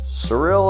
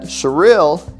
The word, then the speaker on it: Cyril: can quit stuttering is we're surreal surreal Oklahoma and it's spelled cyr IL not surreal but surreal and just a great